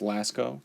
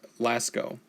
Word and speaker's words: Lascaux: little outline of the cave I think it's pronounced Lascaux cave forgive me if I mispronounce some of